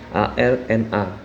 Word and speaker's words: ARNA: Nama perusahaannya adalah Arwana Citra Mulia Tbk, atau kalau di kode sahamnya itu ARNA, dibacanya Arna.